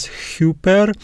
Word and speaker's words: ὑπέρ: genitive and the accusative we have the arab breathing marks so we pronounce it as super and the meaning of